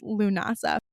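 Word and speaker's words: Lughnasadh: They also call it lunasa, but when it when they call it lunasa, it looks like lagna because that's the way it's spelled, but it's pronounced lunasa.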